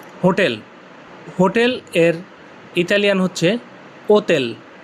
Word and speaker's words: hotel: হোটেল এর Italian হচ্ছে ওতেল। ইংলিশে হোটেল হলেও উচ্চারণটা ওতেল হবে। ওতেল।